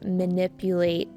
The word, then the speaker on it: manipulate: Once someone builds credibility with their audience, it becomes very easily to manipulate that audience. Manipulate with an emphasis on the second syllable.